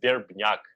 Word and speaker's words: Verbnyak: for english-speaking people but my first name is and last name is durbin yuck so we ERP nya K okay thank you could